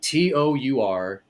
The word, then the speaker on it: Tourangeau: It used to be Tourangeau, Tourangeau, because it was French.